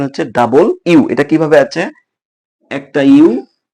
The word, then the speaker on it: W: ডাব। সবাই আমরা উচ্চারণ করি কি? ডাব। কিন্তু এটা উচ্চার সঠিক উচ্চারণ হচ্ছে ডাবল ইউ।